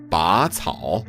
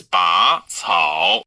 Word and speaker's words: 拔草: It's not 拔草, it's 拔草, the second tone.